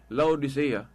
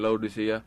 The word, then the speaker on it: Laodicea: Mo na nga ang council nga Katoliko katubang dogmatic declaration of transfer sa Council of Laodicea.